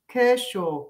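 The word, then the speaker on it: cushaw: Kaushal, I hope I'm saying it right, Kaushal is a large winter squash. It's sometimes pronounced Kershaw.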